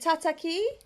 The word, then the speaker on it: Tataki: Is it Tataki?